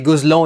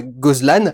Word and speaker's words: Gozlan: breton fils yann déjà il s'était prononcé gosselin et pas ghozlane et j'ai bien deviné